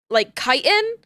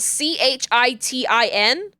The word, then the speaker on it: chitin: Because chitin is spelled C-H-I-T-I-N. And it is a word that I thought for the longest time was pronounced chitin. It's chitin.